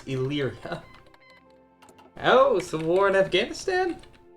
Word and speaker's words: Illyria: sorry that's I always I've always been saying their name wrong but it's Illyria oh some war in